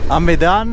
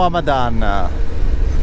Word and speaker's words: Hamadan: Hamadan o Hamadan? Allora, dipende da come si fa la traslitterazione. Io gli ho sempre sentito dire Hamadan.